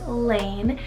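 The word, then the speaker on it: Laine: 51 i have the name lane spell l-a-i-n-e lane this one's english rooted meaning path or roadway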